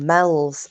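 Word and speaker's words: Meols: and when I watched this I thought actually I know about this um it's a place called Mel's on the Wirral which is spelled m-e-o-l-s there's also a place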